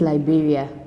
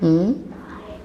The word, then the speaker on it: Liberia: So, the country's name is Liberia. H Liberia.